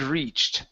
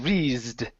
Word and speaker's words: reached: Okay, so what you're doing, you're pronouncing an S. You're saying re, or a Z sound. You're saying reesed. Instead of rees, it's ch, like my name. Okay, so I want you to say my name, Chad. Chad. There you go. One more time, Chad. Chad. Okay, that first sound that you say, ch, that's what you want to pronounce right there. So it's reach, reached.